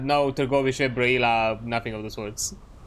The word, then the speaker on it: Târgoviște: It's called, but the proper Romanian pronunciation is Târgoviște. That's how you pronounce it, Târgoviște. It's a bit more. It's a lot closer.